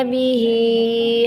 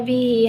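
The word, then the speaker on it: بِهِ: Kalau riwayat lain bacanya linukhrija bihi habba wa nabata. Nah, sedangkan pada riwayat halaf ini bihinya itu satu harokat. Jadi cara membacanya linukhrija bihi habba wa nabata.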